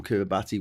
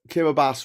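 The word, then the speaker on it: Kiribati: Um, now just before the millennium, Kiraabati wanted to be all in. Kiraabas is actual mispronounced. H wanted to be see I get wrong. Um, Kiraabas wanted to be the first country in the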